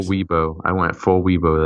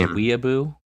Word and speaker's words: weeaboo: Hey, I don't like that representation of Vanguard players and I went full Weibo there. It's pronounced Weeaboo.